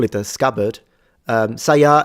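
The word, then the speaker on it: 鞘: Yes, it is saya. Well, you can call it a scabbard. Saya is just a term in Japanese with the pitches low to high.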